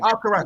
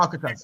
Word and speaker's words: Alcaraz: Alcaraz, not Alcatraz.